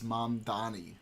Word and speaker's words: Mamdani: I don't understand why he doesn't, every time they mispronounce his name, be like, it's Mamdani.